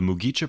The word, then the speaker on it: Mugicha: The Mugicha pronunciation is simple, with just 3 syllables, mu-gi-cha.